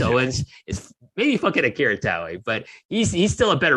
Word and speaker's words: Taue: Obviously, like Taue doesn't have actually more than one syllable, but they just stretch out the syllable there.